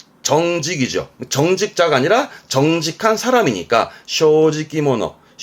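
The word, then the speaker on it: 正直者: 정직자가 아니라 정직한 사람이니까 쇼지키모노. 즉 세 글자 단어임에도 발음이 모노되는 케이스가 또 시험에 보일 수가 있습니다.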